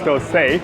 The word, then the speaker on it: Dosai: It's actually pronounced dosa with coconut chutney.